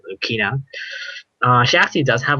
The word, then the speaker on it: Lucina: not entirely sure because her japanese name was rukina so i'm gonna probably pronounce it lukina uh she actually does have a lot of hits at 10.